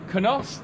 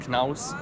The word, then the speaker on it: Knaus: bit about you and kanos I'm so I'm so bad yeah canals uh for everybody that's International the brand is pronounced Knaus in german yes and this is